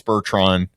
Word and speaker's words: Bertrand: You actually pronounced our podcast producer, our godson's father, Dennis Bertrand.